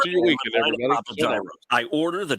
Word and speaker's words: gyro: Papa Gyros. I order the Gyro Supreme. Suddenly, the lady behind me chimes in. It's pronounced gyro.